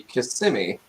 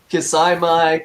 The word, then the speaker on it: Kissimmee: to start with kissimmee so that's how you pronounce it everybody kissimmee uh i i hear a lot of people from different places right walt that say uh yeah kisaimai kissamai i was definitely one of them that couldn't pronounce it when i first saw it i was like uh oh i'm definitely not pronouncing this one right i i i used to say kissing me so yeah right so